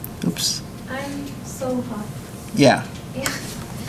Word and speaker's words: Soha: Soham. Oops. I'm Soham. Yeah. Yeah. So, did I say it correctly, Soham? No, Soha. Soha.